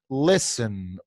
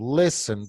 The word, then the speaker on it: listen: Listen. Todo el mundo diga listen. Listen. Listen. En la palabra listen vemos una T acá. Esa T es muda. No se dice esa T.